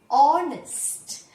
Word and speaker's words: honest: H is silent there. It is a silent letter. You read it as honest.